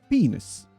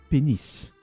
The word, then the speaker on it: pénis: Yeah, it's not penis, it's pénis. And as far as I know, a long time ago, it was penny. The S was silent for some reason.